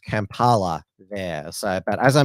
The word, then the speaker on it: Kampala: I get the pronunciation of it right it's pronounced Kampala there so but as I mentioned to you